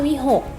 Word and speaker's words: วิหค: คำ ที่ 2 ค่ะ วิหค โว อิ มิ หอม คอ 6 อ่าน ว่า วิ หก v6 ที่ แปล ว่า